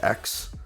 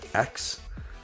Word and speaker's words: ex: which is actually pronounced X, I learned. It's pronounced, the EX, like the lowercase EX, is pronounced X, which is confusing, really,